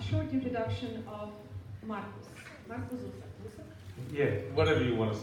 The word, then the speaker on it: Zusak: It's but I would just say Zusak, but it doesn't matter.